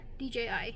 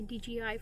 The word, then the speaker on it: DJI: that what it's called i always pronounce the name wrong yeah dji usually i say dgi for some weird reason but yeah so it's